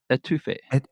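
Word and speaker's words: étouffée: Etouffee. Etouffee. That's how you say it.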